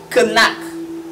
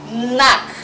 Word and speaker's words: knack: have is nak nak in the word nak the k is silent so you don't say kanak knap is wrong you say knock knock knock knock is